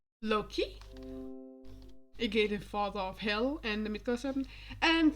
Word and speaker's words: Hel: Well, this one is for Hella, Hella's child, or Hel. Hel is like the Danish pronunciation of it is Hel.